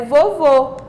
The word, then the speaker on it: vovô: é a palavra que tem o som fechado é vovô porque ao final o o tem o são fechado que leva o acento circunflexo que é o nosso assento